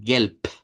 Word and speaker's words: Gelb: Se escribe con b, con la vibrante, pero se pronuncia con la silvante, es decir, con la con la p. E por eso gelp.